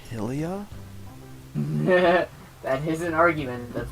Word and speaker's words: Hylia: Ah, the Lake Hylia. Alright. Actually, it's pronounced Lake Hylia.